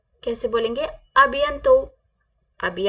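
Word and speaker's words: à bientôt: soon okay C you soon तो कैसे बोलेंगे अभ यंतो कैसे बोलेंगे अभि अं तो अभि अं तो अभि अतो प्लीज ट विद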